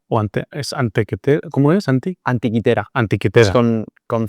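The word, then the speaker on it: Antikythera: Anti antiquitera. antiquitera con con C, pero bueno, viene del griego, entonces se pronuncia con con has oído hablar de él.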